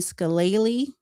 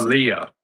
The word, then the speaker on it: Scalia: incorrect because they said um a young Anthony Scalle that's how you pronounce Scalia.